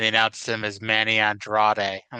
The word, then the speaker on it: Andrade: He did a dark match, and they announced him as Manny Andrade. I'm like, oh, that's how you pronounce it.